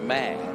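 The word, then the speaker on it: Maor: And just to be clear, he's not a mayor, it's a mayor. Mayor. So it's spelled M-A-O-R.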